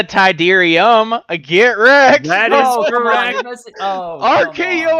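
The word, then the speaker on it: Tydirium: Moon of Endor shuttle tidan yeah yeah say it say it correctly what is the shuttle tidan tidan that's what he said that is incorrect what what is the tyderium Get Wrecked that isre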